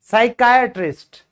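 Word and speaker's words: psychiatrist: मनोविज्ञान psychology psychology psychology psychology सुना हुआ है ना साइकोलॉजी साइकोलॉजी पी साइलेंट है मनोचिकित्सिक साइकाट्रिस्ट साइकाट्रिस्ट बोलते हैं क्या प्रोनाउंसिएशन होगी मेरे साथ-साथ प्रैक्टिस करो साइकाट्रिस्ट साइकाट्रिस्ट साइकाट्रिस्ट ठीक है साइकास्ट फिर भजन।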